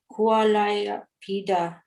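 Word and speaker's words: Kuvalayāpīḍa: elephant of the name kualai peda am i pronouncing right yeah all you have to do to get this right okay is pronounce the long ah being tended by a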